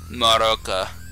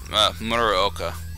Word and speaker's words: Muraoka: So Muraoka. Muraoka. That's right. I said it wrong the first time.